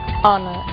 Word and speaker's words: honor: O som do H. Pronunciado desde a garganta, como em hotel, e mudo em 3 casos: hour, honest, honor.